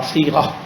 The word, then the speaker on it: صیغہ: پہلے تو اس کے تلفظ صاد یہ غین اور ہا صیغہ کہتے ہیں.